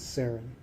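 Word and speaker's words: Seren: your name sure uh the first name is pronounced and the last name is sarin than you sure okay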